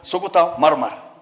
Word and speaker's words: Sukuta Marmar: The Sukuta Marmar. You know, you have difficulties in pronouncing these things, but for us for us pastoralists, we know how to pronounce. It's called Sukuta Marmar.